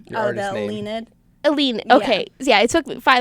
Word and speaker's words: Elleinad: Elleinad.